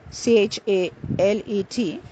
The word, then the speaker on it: chalet: which means driver Shuffle the next word Charlie c-h-a-l-e-t pronounced as Chalet is a small wooden house there's